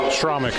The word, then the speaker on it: Schromick: Shremick, is that how you pronounce it? Schromick, I believe is how the Blair Taylor coaches.